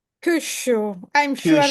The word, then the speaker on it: Kyushu: Very good analysis, and also the focus on Kyushu is a pronunciation. Kyushu. I'm sure that Kyushu.